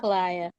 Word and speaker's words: Kalila: Kalila, how do you say it? Somebody tell me. Kalila. Kalila? It's Kalila. Kalila.